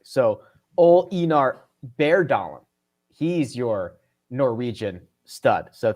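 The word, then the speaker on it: Bjørndalen: Okay, so I incorrectly pronounced Bjorndalen. That Bjorn is pronounced bear, apparently. So Ol Einar Bærdalen.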